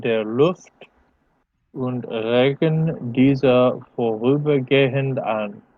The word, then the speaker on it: vorübergehend: Sie kollidieren mit den Sauerstoff- und Stickstoffatomen in der Luft und regen diese vorübergehend an. Remember not to pronounce that H as an H.